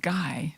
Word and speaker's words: Gui: recognize and remember Alice ghee is spelled GUI we would say guy but in France where she was born it's Ki and her married name